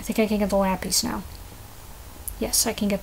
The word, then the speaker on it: lapis lazuli: can get the lapies technically it's pronounced lapis lazuli or lapis lazuli but I always call them lapies which is a very probably a very American way to say the name of this Stone so yeah you know